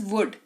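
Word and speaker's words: would: चलो अगला वर्ड है हमारे पास वुड। डब्ल्यू ओ यू एल डी। L silent रहेगा।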